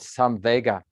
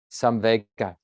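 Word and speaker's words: saṃvega: life is this quality called some vega which is a poly word i think it's the same pronunciation in sanskrit as well some vega s-a-m-v-e-g-a some vega usually gets translated as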